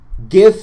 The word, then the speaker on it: GIF: sense not only does it preserve the original sounds of each of the letters it stands for graphical interchange format but